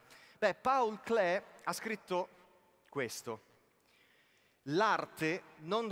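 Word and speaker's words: Klee: il pittore e poeta Paul Clay che molti conoscono come Paul clee pronunciando il suo nome all'inglese anche se lui non era inglese ma era tedesco di madre Svizzera Beh Paul Clè ha scritto questo L'arte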